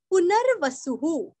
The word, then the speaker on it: पुनर्वसुः: पुनर्वसुहु, पूरस्व व के ऊपर का रफार हमें न को जोड़ के लेना है। वसु का सुरस्व विसर्ग का उच्चारण ह अथवा हा। पुनर्वसुहु, पुनर्वसुहु और सॉरी यहाँ पे सु और विसर्ग का उच्चारण यहाँ पे रस्व हु बोलना है।